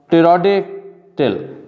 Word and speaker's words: pterodactyl: Notice that in words like psychology or pterodactyl, the P is not pronounced.